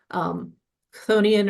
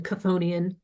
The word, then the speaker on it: Chthonian: But almost everybody I know just says it Chthonian. Chthonian or even Chthonian are both fine.